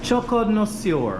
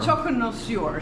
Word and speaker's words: Choconnoisseur: Choconnoisseur. Choconnoisseur.